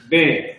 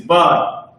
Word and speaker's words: ben: He says, transliteration, ben. This is where you get all that ben Yehudi and ben this garbage, because that's what Esau says. But the pronunciation is bun.